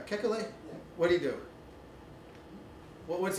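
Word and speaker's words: Kekulé: know how to pronounce is it kekule yeah yeah kekule what do you do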